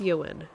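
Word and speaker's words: Euan: fine um and um I tell people you would like you and and they go all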